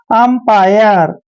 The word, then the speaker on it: umpire: देखिए UM जब भी इकट्ठा आता है तो इसका उच्चारण हम करते हैं, ऐसे और देखिए P को हम प पढ़ते हैं और IRE का उच्चारण आयर करते हैं, ऐसे आयर, ठीक है ना।